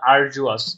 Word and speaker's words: arduous: রাখা যায় এরকম দেখেন আরডওয়াস আরডওয়াস আরডওয়াস আচ্ছা যদিও এটার উচ্চারণ কিন্তু আরজুয়াস আচ্ছা আমরা আরওয়াস দিয়ে